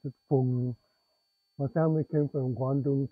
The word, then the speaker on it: Fung: In English, you pronounce it Fung, but in Cantonese, you pronounce it Fung.